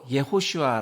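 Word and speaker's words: יְהוֹשֻׁעַ: 에 대해서 알아보도록 하겠습니다 여호수아는 히브리어로 예후 슈아 라고 발음 하는데요 예수님의 히브리 식 이름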